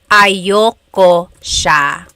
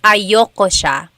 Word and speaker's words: ayaw ko siya: Usually it's pronounced ayoko siya. So if you want to sound a little bit more natural, you put everything together, ayoko siya. Ayaw ko siya is ayoko siya.